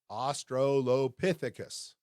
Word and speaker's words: Australopithecus: That's pronounced, again, Australopithecus.